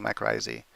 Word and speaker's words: mycorrhizae: know I like saying my crazy it's the most if you have if you want to be anal it's the most correct way it's based on the way the word comes from the languages and stuff anyway so